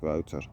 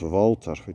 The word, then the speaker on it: Wouter: Funny thing is, I told her my name and she said it directly correct, like Wouter, and not Walter, which almost everyone does.